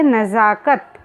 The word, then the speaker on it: नज़ाकत: यह एक उर्दू का शब्द है, इसलिए ज के नीचे नुक्ता का प्रयोग किया गया है और इसका उच्चारण करेंगे नज़ाकत।